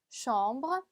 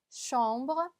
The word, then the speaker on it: chambre: 방은요, chambre, chambre. 네, 세 아쉬기 때문에 슈 발음을 내주시면 됩니다.